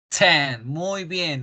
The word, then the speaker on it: ten: 10. Muy bien, con la T explosionando la boca.